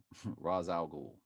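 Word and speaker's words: Ra's al Ghul: out raz al ghul raz al ghul that's pretty much how you pronounce it well raw the a.i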